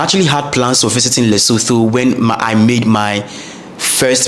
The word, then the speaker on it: Lesotho: So first and foremost, the word is pronounced Lesotho. Lesotho and not Lesotho.